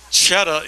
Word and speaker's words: Chetta: And Chetta is like the cheese you put on your apple pie in Boston.